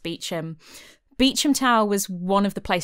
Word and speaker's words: Beauchamp: I know it's spelled Beauchamp, but I promise you it's pronounced Beauchamp.